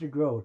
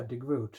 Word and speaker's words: DeGroot: me and she says it's pronounced your growth it rhymes with boat but like there's no